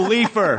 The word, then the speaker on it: Leifer: we redo it cuz you just said my name wrong, you stupid pencil mustache It's Carol Leafer.